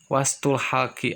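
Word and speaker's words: وسط الحلق: hak kecil ini dan angin itu dibacanya Wastu halqi artinya tengah-tengah tenggorokan Ya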